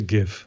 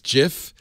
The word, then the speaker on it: GIF: you know you know the guy who wrote it says it's jiff and everybody always says that to me I've always said gif but he said that like a hundred years later yeah he made it